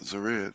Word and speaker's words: Zered: Yeah, only one way to pronounce that, Zered.